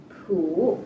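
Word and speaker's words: P'u: poo by the way it's pronounced sort of like poo but without so much ooh like the sound you make when blowing a bug off your arm on a hot summer day before we bring our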